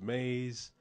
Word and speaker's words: maize: helped the European settle plant maze pronounced maze that we later called